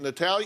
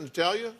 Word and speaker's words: Natalia: into play that's right Carl's in love with Natalia is how you pronounce it Natalia she likes the English Natalie Natalie Natalie and